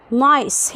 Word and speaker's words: nice: والسي هنا اتنطقت س. ليه؟ عشان جه وراها اي. السي لو جه وراها اي او اي او واي بتتنطق س، فنقول nice.